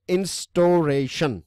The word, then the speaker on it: instauration: it with you guys the word is a instauration right this is how you pronounce them and basically it means